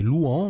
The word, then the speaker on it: Louen: de Lyon alors d'ailleurs apparemment je prononce pas bien Louen il faut peut-être le prononcer louant moi j'aime bien dire Louen comme ça donc on a le